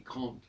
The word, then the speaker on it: grande: Ce n'est pas grande, je dis grande. Donc je prononce le D, et le E m'indique que je dois prononcer le D, et s'il n'y a pas de E, ça devient grand, et à ce moment-là, il n'y a plus de D.